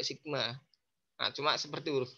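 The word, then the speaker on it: σ: Sebenarnya bacanya juga sigma.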